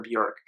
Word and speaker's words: Björk: I also I'm going to be really careful to say Bjork not be work because I've been saying that in all my Bjork reviews Bjork reviews so far and it's not the official Icelandic pronunciation so I want to try as a real Bjork fan to pronounce it more like jerk if I may slip